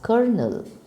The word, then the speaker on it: colonel: in the army right how do we spell it we spell it as si o el o n e el do but do we pronounce it as : l no we pronounce it as Colonel so see that is